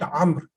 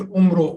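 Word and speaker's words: عمرو: So Amr will have an extra vowel. And why is that vowel? Just to differentiate, because the spelling of Amr and Umar is same. There also it is Ain Mim Ra. In Umar also it is Ain Mim Ra. But to differentiate them, extra vowel is written, but it is not pronounced. Many people make this mistake. And they say Umro, Umro. That's Amr actually.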